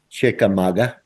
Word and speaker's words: Chickamauga: How do you pronounce that again, Chico? Chickamauga.